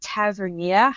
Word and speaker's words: Tavernier: I also think that Tavernier, I might be pronouncing.